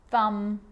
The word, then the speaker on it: thumb: It's always silent when it follows the letter M. Climb, crumb, lamb, thumb, dumb, and plumber. So practice them with me. I'm not pronouncing the B, I'm just pronouncing the M consonant sound.